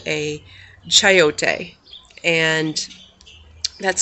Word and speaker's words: chayote: So this little guy right here is called a chayote, and that's spelled Chayote.